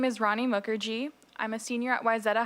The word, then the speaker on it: Mukherjee: How do you pronounce the last name? Mukherjee, Rani Mukherjee.